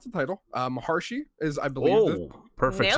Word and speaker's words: Maharshi: I can barely pronounce the title. Maharshi is, I believe, Oh, perfect.